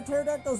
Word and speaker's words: pterodactyl: Why can't you hear a pterodactyl's urination? The P is silent.